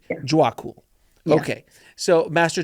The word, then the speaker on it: Djwhal: Djwhal Khul. D'accord, Djwhal Khul. Djwhal Khul. Donc le D est silencieux, essentiellement, Djwhal Khul. Ok, donc Maître Djwhal Khul.